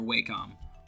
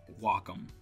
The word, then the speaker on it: Wacom: have always used are wake up or Wacom or walk them I say Wacom you can leave a